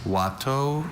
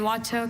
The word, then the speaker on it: Watteau: Watteau is a noun. And Watteau, can I add a language of origin? This word is from a French name. Are there any alternate pronunciations? There's Watteau and Watteau.